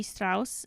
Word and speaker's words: Strauss: Those started being made by Levi Strauss in 1853. Tried pronouncing his name the German way, or else my German friends will kind of come after me.